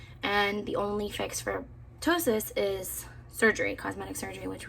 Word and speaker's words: ptosis: I thought I had ptosis, it's the P is silent, which I was really